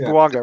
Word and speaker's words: Bouanga: It's Bouanga, right?